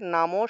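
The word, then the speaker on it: নমঃ: কোনো একটা বাক্যের মধ্যখানে যদি বিসর্গ থাকে, তাহলে সেই বিসর্গটাকে হসন্তযুক্ত হ উচ্চারণ করতে হয়, অর্থাৎ এই ক্ষেত্রে নামো শব্দটার উচ্চারণ হবে নামো, আর বিসর্গ থাকলে তো হ উচ্চারণ হয়, বিসর্গ থাকলে হ উচ্চারণ হয়, তাই এই ক্ষেত্রে বিসর্গটা লাইনের মাঝখানে থাকায় উচ্চারণটা হবে নামঃ, নামঃ।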